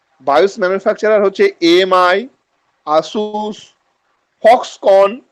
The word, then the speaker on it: Foxconn: Bias এবার manufacturer কারা, bias manufacturer হচ্ছে এএমআই, আসুস, ফক্সকন। ফক্সকনের বানানটা হচ্ছে FOXCONN, একটা এন এর উচ্চারণ হবে না।